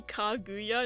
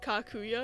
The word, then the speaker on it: Kaguya: And it's actually Kaguya instead of Kakuya because it sounds very similar.